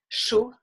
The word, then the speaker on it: chaud: Le D, généralement, est une lettre muette, so the D will be a muted letter, comme froid, froid, chaud, chaud, ou d'accord.